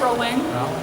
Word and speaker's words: Rowling: but I was going with the Rowling thing or rolling thing SM don't know how it's pronounced like we not here right it's rolling yeah I just said